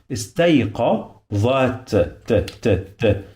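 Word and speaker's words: اِسْتَيْقَظَتْ: So you must use your tongue to touch your upper teeth to pronounce this letter.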